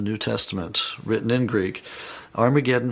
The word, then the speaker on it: Armageddon: Testament written in Greek Armageddon has an aspirant at the beginning meaning it's pronounced with an H so it originally was